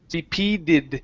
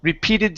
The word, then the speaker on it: repeated: stretches repeated stretches okay give me a good uh flat T here repeated repeated stretches repeated stretches that's the sound awesome nice job uh